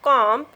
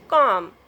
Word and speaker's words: comb: You don't pronounce the B at the end of comb. You pronounce this word is comb.